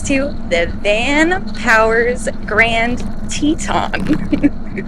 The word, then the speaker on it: Teton: van Powers Grand Teton I know it looks like it's spelled tetan but I actually watched the CES unveiling of this bike and the guy was like this is the Teton so that's what I'm going with Grand Teton right now